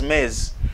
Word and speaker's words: Ms: It is pronounced as mez.